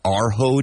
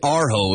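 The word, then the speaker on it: Urho: Arho Day? Bless you. No, I didn't know that. It's not on my calendar. St. Arho.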